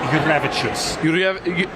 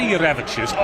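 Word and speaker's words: Jurevičius: Well, Matas has told me it's Jurevicius. Jurevicius, yeah. Right? So, I say Jurevicius, Which is, oh my god, it's a great line.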